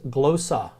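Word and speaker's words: γλῶσσα: couple of words to learn first word is glow saw this is an Omega that will learn about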